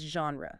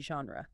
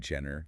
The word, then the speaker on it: genre: It is not a hard J, like in the word jump.